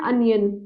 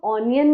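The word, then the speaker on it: onion: एन अनियन, right, this is vowel. इसको हम ऑनियन नहीं बोलेंगे, इसको हम अनियन बोलेंगे।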